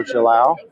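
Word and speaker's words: Gilão: The G sound in Portugal is a soft G. And you can see down, this is south, Rio Gilao going south.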